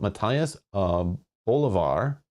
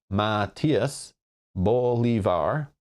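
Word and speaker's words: Matías Bolívar: of Interest official principal Matthias of Bolivar or pronounced properly May Matias Bolivar principal officer in charge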